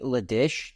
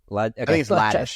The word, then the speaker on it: Ladish: it already is, Jeffrey Liddish tweeted, um, I think I say his name, right? Right. Ladish.